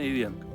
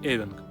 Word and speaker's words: эвенк: Дело в том, что в словарях везде пишут, что правильно ивенк. Но таежники, которые живут в Сибири, часто говорят именно эвенк.